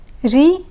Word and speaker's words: riz: Riz and gaz. The Z in riz is silent, but the Z in gaz is pronounced.